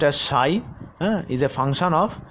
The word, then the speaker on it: psi: Where psi, this is pronounced as psi, is a function of x, and this is the lambda, that is the associated wavelength of that electron.